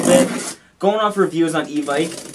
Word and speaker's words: Evike: Going off reviews on e-bike, I guess it's pronounced Evic, I heard, I didn't know. It shouldn't end in an IKE if it's not Ike.